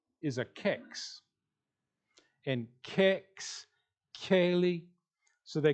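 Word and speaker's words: Kayleigh: So like no one could pronounce Kaylee's name because we spelled it very weird. K-A-Y. They don't have a Y in their language. And then L-E-I-G-H. The I, G, and H are pretty much silent.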